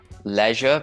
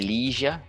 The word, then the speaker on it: leisure: it could be neither some people say that leisure but it could be leisure depending on where you are in the world so there are differences